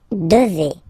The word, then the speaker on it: devez: And then vous devez. Remember, classic ending for vous here, a Z, but then you pronounce this combination of two letters, et, devez, devez, vous devez.